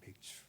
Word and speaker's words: 맥추: 발음에 주의하세요. 맥주가 아니고 맥추입니다. 맥추. 보리맥자, 추수할 추자.